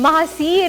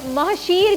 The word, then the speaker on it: महासीर: महासीर कहते हैं। अच्छा इसको महशीर भी कहते हैं, अब इसकी प्रोनाउंसिएशन जैसे महासीर, इसको हम इंग्लिश में अगर हम राइट करें NAHSEER खास होती है क्या वो?